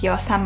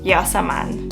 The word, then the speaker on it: Yasmine: So fact number 50 is my real name is Yasmine Hahn, not Yasmin. I remember back in school no one could pronounce my name.